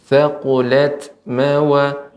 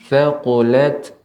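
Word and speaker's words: ثقلت: Ya, Ibu, untuk tak sukun ini juga harus diberikan aliran udara hamsnya, sifat hamsnya. Thaqulat thaqulat.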